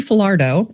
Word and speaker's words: Falardeau: Her name is Kelly Falardo, and I had to practice how to say her name.